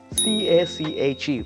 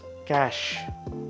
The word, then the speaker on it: cache: next one would be c-a-c-h-e which is cash cash it's not cache it's not cage it's cash c a c h